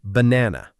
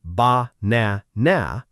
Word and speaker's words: banana: Take the word banana. We don't say ba-na-na or ba-na-na. We say banana. The middle part gets the energy.